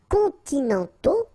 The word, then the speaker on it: continentaux: Okay, so les climats continentaux, remember, final X not pronounced, and then this A-U together, they give you the sound O, okay?